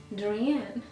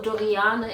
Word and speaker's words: Dorian: Dorian. Dorian. Yeah, my name is Dorian. Or Doriane. Or Doriane if you want to pronounce it in German.